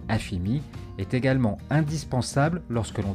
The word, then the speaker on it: AFM: L'obtention d'un numéro fiscal grec, appelé AFM, prononcé AFIMI, est également indispensable lorsque l'on décide de s'installer en Grèce.